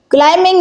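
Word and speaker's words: climbing: क्लाइंबिंग में B silent letter है।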